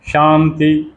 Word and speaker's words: शांति: और शंभु, शांति, वही तालव्य श, उसके ऊपर बिंदी और ती, तो शांति, शांति, वो न का उच्चारण कर देते हैं, उसको हम न बोलते हैं और शांति हो जाता है।